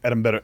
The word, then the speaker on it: Edinburgh: It's like Edinburgh, like the correct pronunciation is like Edinburgh.